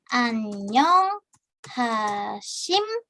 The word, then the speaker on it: 안녕하십니까: Tapi kenapa saya melafalkannya diubah menjadi M? Karena dia biupnya bertemu dengan nian. Jadi kalau di sini biup gitu ya, dia bertemu dengan nian gitu ya. dilafalkannya gitu ya, pelafalannya berubah menjadi miem.